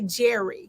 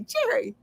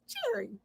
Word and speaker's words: Jerry: You never, in other words, don't close your lips around the R. So you don't say Jerry because there's only one R. So you say Jerry.